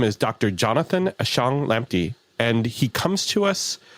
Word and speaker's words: Ashong-Lamptey: Well, first off, congratulations on pronouncing it right. Practice, practice makes practice there. So, for the audience, I'm Dr. Jonathan Ashang Lampy.